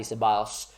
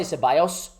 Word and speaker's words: Ceballos: Tell me how you would pronounce this. I say Ceballos. But some people say Ceballos and all those sort of things. I say Ceballos. Sebi Bios, or, I figured like the golfer, like Sebi Bios, that used to, win